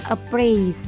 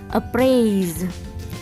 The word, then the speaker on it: appraise: Berarti the second syllable is heavy syllable dan stressnya ada di the second syllable. Berarti bacanya appraise. Appraise.